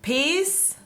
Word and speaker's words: peace: Entonces, So, peace and love. peace and love. Peace and love and piss. Peace, piss. Ya, el sonido es mucho más largo.